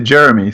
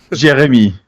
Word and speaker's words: Jérémie: Well, you can pronounce it as an American, so you could say Jérémie, so that's okay. Don't worry. Gotcha. Okay, what's the correct French pronunciation, though? Jérémie.